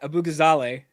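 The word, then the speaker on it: Abughazaleh: senator, and then you've got Kat Abu Ghazale, I'm gonna say Nice. it right. Beautiful Or try.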